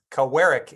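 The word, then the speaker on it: Kawerak: President of cowrick Inc cowarick Inc I believe is the proper pronunciation I've I've been reminded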